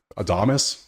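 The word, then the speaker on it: Adames: take you and yeah I always butcher this Man's last name adamus I think is how they say it I've been calling him Adams a lot I just see him like oh Adams no it's it's like a doas and I keep butchering it hard so whatever Milwaukee money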